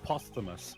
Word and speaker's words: posthumous: Posthumous. It's Posthumous... it's posthumous. You don't pronounce the TH.